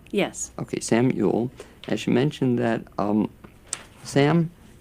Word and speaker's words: Yule: And am I pronouncing it correctly? Yes. Okay, Sam Yule.